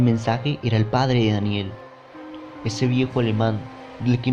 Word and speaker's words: Daniel: Daniel salió, me informó él, pronunciando el nombre de su hijo con el acento en la primera sílaba.